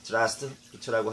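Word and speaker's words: здравствуй: 보통 러시아에서 공손한 표현은 zdravstvuy가 됩니다. 이게 이제 한국인들이 발음할 때 zdravstvuy라고 하는데요. 이렇게 천천히 하기보다는 짧게 zdravstvuy라고 하고 줄여서 zdravst라고 말을 많이 합니다.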